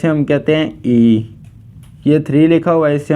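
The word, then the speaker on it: 이: लोगों के सामने टू लिखा हुआ है कहते ई यह थ्र लिखा हुआ इसे हम कहते हैं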